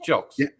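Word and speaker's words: Jilks: hear it it's uh if you were to spell it g it looks like gilkeys yeah no that's not right it's j-i-l-x it's how it sounds jokes jokes yeah yeah but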